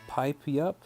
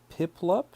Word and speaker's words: Piplup: Not pip pipup. It's piplup. Oh, you know what's crazy is I've said piplup probably since Diamond and Pearl came out a 100,000 years ago. So, Piplup, is that what you're saying?